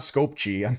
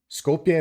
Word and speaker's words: Skopje: I think the J is not pronounced as a J. It's not Skopje, that's for sure.